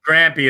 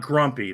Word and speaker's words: Grampy: Grampy. It's not Grumpy. If you call me Grumpy, you'll piss me off and I'll become Grumpy. No, Grampy. That's it's Grampy.